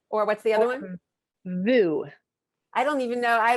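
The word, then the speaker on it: voo: margie the foot or what's the other one vu i don't even know i don't know either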